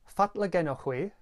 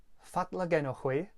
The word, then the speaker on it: fatla genowgh hwi: What I said at the beginning of this video was fatla genochwi, fatla genochwi.